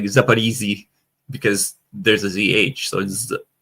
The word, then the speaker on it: Zaporizhzhia: So she's trying to say Zaporizhzhia because the Ukrainian pronunciation has the I instead of the O. But because for some strange reason, many, especially Americans, don't understand that ZH is a Z sound, like a J, like SH is a sh, so